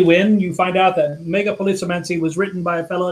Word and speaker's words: megapolisomancy: And it is because he couldn't pronounce it. And it is indeed megapolisomancy, which is a made-up word that might mean like the magic of big cities.